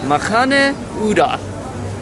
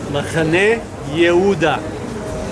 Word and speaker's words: Machane Yehuda: pronounce this place, and I think it's Machane Yehuda. Machane Yehuda. Spelled like Judah, that's why I keep saying it like that, but we're going